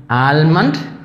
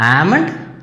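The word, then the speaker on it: almond: പക്ഷേ അതിന് നമ്മൾ ഇതേ ഉച്ചാരണ രീതിയാണ്, എല്ല് സൈലൻ്റാണ്. അപ്പോൾ എങ്ങനെ പറയും, സാമൺ, സാമൺ, സാൽമൺ അല്ല, സാമൺ, ആൽമണ്ട് അല്ല, ആമണ്ട്, സാൽമൺ അല്ല, സാമൺ.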